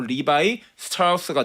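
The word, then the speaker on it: Levi Strauss: 어 그러니까 독일의 이름 레브 슈트하우스가 본명이에요. 근데 그가 미국으로 건너오면서 영어식으로 읽은 바람이 발음이 바로 리바이 스타우스가 된 거고요. 그게 리바스로 된 거라고 보시면 될 거 같습니다.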